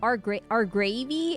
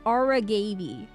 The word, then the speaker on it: Aragavi: Or I keep calling him Argravy. It's Aragavi.